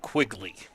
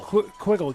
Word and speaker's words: Quiggle: Kona is a lefty is it quiggle or quigle I would have said quigly I according to the pronunciation sheet that I was provided by the chuggers they they say it's uh quigle quiggle just like wiggle that's what they wrote down well we will go with quiggle I'm glad uh I'm